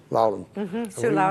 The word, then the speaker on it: Loudoun: what's how do you say it Sue Loudon Loudon yeah both of them on here on political